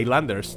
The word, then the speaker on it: Islanders: os ha parecido a islanders no no es icelandair suárez highlanders porque la s no se pronuncia pero que os haya